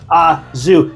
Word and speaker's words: au jus: If you're going there, especially if you're going through the drive-thru, ask for extra azu and let them know that you know how to pronounce it correctly, thanks to Joey Starr.